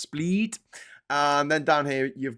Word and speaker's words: Split: down here it looks like split but it's pronounced split and then down here you've got dnik uh